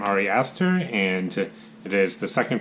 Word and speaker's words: Ari Aster: Midsommar is directed by, I believe this is how you pronounce his name, Ari Aster, and it is the second film that I've seen from him.